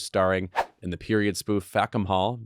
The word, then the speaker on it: Fackham Hall: Now she's starring in the period spoof Fackham Hall, maybe pronounced better, Fackham Hall, which hits theaters December 5th.